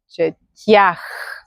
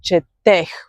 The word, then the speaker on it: четях: Then you say аз четях. Okay? So it's the ях ending. Аз четях. You don't say аз четех, for example, how говорех. No. Here pay attention. So we say аз четях.